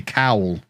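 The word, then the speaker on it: cawl: a typo what is call pronouncing and similar way to the English word cowl okay cowl can be regarded as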